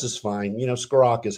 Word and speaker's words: Scrocca: You know, Scrocca is how you pronounce it.